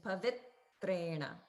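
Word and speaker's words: पवित्रेण: Zoom or not, but just make sure you're holding on the it in pavitrena. Pavitrena. Okay, so a little holding. So emphasizing and striking there, and also holding for a beat.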